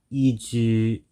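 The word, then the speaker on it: 移住: So after looking it up, I found out that this word is pronounced Iju and means immigration, and the next word is Koro, meaning around time speaking.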